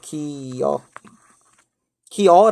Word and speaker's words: 기어: 어떻게 발음 얘기도 하냐면 이렇게 발음 되기도 해요 키 이어 기어 라고 발음하기도 하지만 키 여 라고 발음하기도 하거든요 이 발음도 표준 말이에요 피어도 표준 발음 이고요 기어도 표준 발음 인데 이 기어로 밤